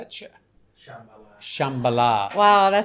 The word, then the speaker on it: Shambhala: Shambhala.